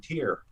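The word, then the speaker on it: Tyr: loud back to back uh eternal idol and tear is that how you pronounce it yeah yeah and i blasted them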